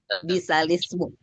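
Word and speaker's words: بِئْسَ الِاسْمُ: Bacaan ini bacanya bisalismu.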